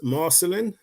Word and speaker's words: Marcelin: wherever you are again my name is marcelin is pronounced right Chris is marcelin uh wow what a